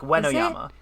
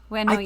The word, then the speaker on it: Uenoyama: I think the tricky thing is it's almost like the first syllable is a W. It's like we, you know, like Uenoyama. Uenoyama.